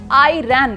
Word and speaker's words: Iran: कुछ अमेरिकी ईरान को आईरैन बोलते हैं। जिन्हें अंग्रेजी का ये वर्ड प्ले समझ नहीं आया उन्हें आसान भाषा में समझा दूं। असल में अमेरिका में ईरान का उच्चारण आईरान की तरह किया जाता है और इंग्लिश में